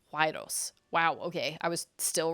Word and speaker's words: gyros: It's Gyros, but it's pronounced like Y. Huayros.